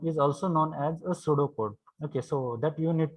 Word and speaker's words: pseudocode: आता याचं if I pronounce pseudocode but here p is silent.